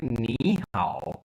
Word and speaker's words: 你好: बट जब हम इनको इकट्ठा पढ़ेंगे तो फिर जो है नी की टोन सेकंड में चेंज हो जाएगी, सेकंड में प्रोनाउंस किया जाएगा, लिखी थर्ड में ही जाएगी। तो इसलिए हम कहेंगे नी हाओ।